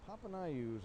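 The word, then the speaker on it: Papaioannou: spelled p-a-p-a-i-o-a-n-n-o-u so and i checked with the coach before the game and they said papa and i use how you pronounce that so he is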